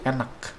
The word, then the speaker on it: enak: Bukan enak, tapi enak. Enak. Bedanya apa? K-nya harus jelas.